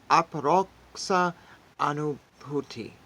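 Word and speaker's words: Aparoksha Anubhuti: welcome back today we are reading ADI shankara's apparoxa Anu bhuti yeah that's how you pronounce it it means in English non-indirect experience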